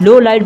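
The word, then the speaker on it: Lawliet: को बताता है कि उसका रियल नाम एल लॉलेट था, लेकिन उसे प्रोनाउंस करते वक्त लो लाइट बोलते थे।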